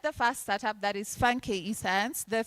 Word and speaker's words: FunKE: co-founder and CEO of FunKE Science. We have several pronunciations we've had. It could be Nigerian, Funke. It's not. It's still FunKE. There's also FunKE, which Lillian has said, no, it's FunKE Science.